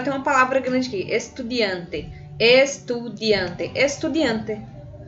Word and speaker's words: estudiante: Agora tem uma palavra grande aqui, estudiante. Estudiante. Estudiante. Observe que em nenhum momento de nenhuma das 4 sílabas eu dou um ênfase. Estudiante, estudiante. Então, todas elas são átomos, tá bom, gente?